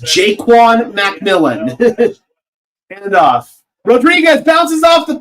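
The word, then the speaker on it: Ja'Quan McMillian: It is pronounced Jaquan McMillan.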